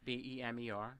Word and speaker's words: BEMER: And say it again, Beamer. Am I pronouncing it? Yes, BEMER.